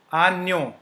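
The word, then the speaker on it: agneau: seen this uh combination JN is pronounced as n n okay so you do not have to pronounce J but like okay so one example a we break it I will just break it into so is O as we have learned J N is so New Ano ano means lamb okay ano uh there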